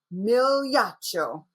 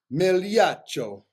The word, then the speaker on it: Migliaccio: If you're going to learn how to say it, I want you to go like this first and say Migliaccio. Migliaccio.